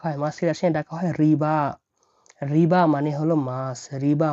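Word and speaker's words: рыба: মিয়াসো মানে মাংস মাংস মিট মাছ মাছকে রাসায়নে কি ডাকা হয় মাছের রাশি রাখা হয় রিবা রিবা মানে হল মাছ রিবা মানে মাছ দেখুন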